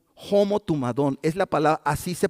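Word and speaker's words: ὁμοθυμαδόν: Y la palabra unidos aquí es una palabra griega, es la palabra homo tumadón. Homo tumadón es la palabra, así se pronuncia, pero es una palabra griega.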